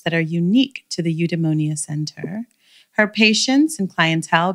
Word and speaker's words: Eudaimonia: Everything, the U is pronounced as a V, so it's Eudaimonia. It's a Greek word and it means human flourishing. Eudaimonia.